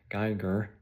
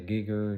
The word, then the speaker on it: Geer: They're not real because they can't even say my name, right? Geer. So, they they say giger and whatever. Can't even say it right.